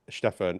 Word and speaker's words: Stefan: on the last podcast, we discussed this because I asked Stefan exactly how to pronounce it, and yes, it is Stefan, and that's why I'm saying it that way.